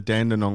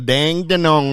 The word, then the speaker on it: Dandenong: it correctly as well it's not the Dandenong ranges it's the dang da Nong ranges that's how you pronounce that properly um Holly can I talk